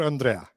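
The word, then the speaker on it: André: No, I'm Andre because my mom is from Colorado, right? So Andrew was in the mix, but that got avoided because my Italian grandparents could never pronounce that W at the end. Andrea was in the mix, but that's a woman's name in the U.S. So option 3 was the French. Andre, it has the accent at the end, so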